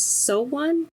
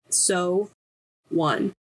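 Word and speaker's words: SONE: fan called so one it's s and then a heart and then an n e but in the they put it in quotations and they it like pronounced so one so I think that's how you say it um oh I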